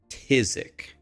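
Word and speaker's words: phthisic: Try to spell tisic. Tisic. None of you will spell it correctly without Google.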